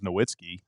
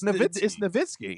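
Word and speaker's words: Nowitzki: Well, like Durk says his last name is Noitzky. Stop lying, Dirk. It's Nitzky.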